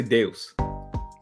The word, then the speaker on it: Deus: we are at home you say deals I say Deus I say only this all right come with the deals right Amadeus yeah this that's how you say it in Latin that's not